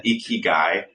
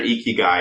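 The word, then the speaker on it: ikigai: every Creator makes this graph it's called an eeky guy it's spelled II G AI if they find their eeky guy it's the it's when all four of those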